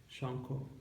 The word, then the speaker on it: Sankha: Thanks, Shanko. Hey, Did I say it don't right? Thanks, it's like Did I say it right? Shanko.